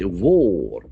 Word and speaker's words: war: To end war. So the letter A will have O sound here.